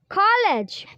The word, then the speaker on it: college: College, college. So last vowel sound in college is not producing. After G it is silent. It means that E, the sound of E is silent.